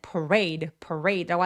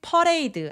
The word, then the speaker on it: parade: 자, 퍼레이드는 parade라고 하지 퍼레이드 아니에요. On parade day. parade 할 때 드와 day 할 때 d가 같은 소리를 한 번만 발음해서 parade. re처럼 R로 시작하는 소리들은 입술 내밀고 re라고 해주세요. 퍼레 아니에요. parade라고 합니다.